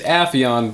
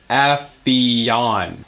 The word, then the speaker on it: Aon: name their son Apon it is mindblowing how many people cannot pronounce my name I understand it's Apon but come on do better no it's Aon well I don't care